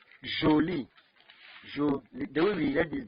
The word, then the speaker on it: jolie: your own pronunciation because some people need to say jolly it's not johnny jolie the way we read